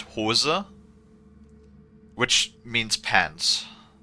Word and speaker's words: Hose: pipe right in in English in German it's pronounced HOSA which means pants right um now there's a